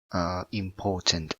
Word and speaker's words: important: For example, the word of important, right? Like this one, important. You have to put the stress word in the port or the second syllable, so you pronounce important, not important.